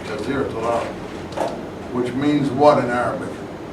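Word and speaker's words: جزيرة العرب: So I can pronounce that easy in English because I see it's Jazir Arab, and I know by the accent it's a long I, Jazir Arab, which means what in Arabic?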